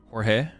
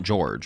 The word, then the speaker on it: Jorge: Jorge? Wait, so it is Jorge, it's not George, right?